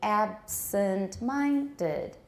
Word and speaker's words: absent-minded: citation form she's very absent minded absent you can still hear the other stress on ab absent minded she's very absent minded